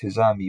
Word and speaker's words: Hizami: Al-Hizami is pronounced Hizami wherever it occurs, and God knows best.